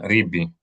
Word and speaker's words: Ribi: Accent the final syllable.